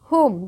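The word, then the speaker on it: whom: chilled नहीं child to हमम देखिए यहां पर हमम पढ़ेंगे वम नहीं पढ़ेंगे डब्लू एच ओ एम हम व जो है वह साइलेंट हो जाएगी ठीक है दे बोथ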